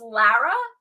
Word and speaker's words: Lara: So it's pronounced Lara. Is that correct? Yes, thank you for asking, Laura.